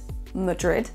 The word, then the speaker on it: Madrid: Pour Madrid, Madrid, Madrid, c'est la deuxième syllabe qui est accentuée plus que l'autre.